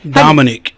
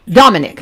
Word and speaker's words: Dominik: Dominik. Dominik.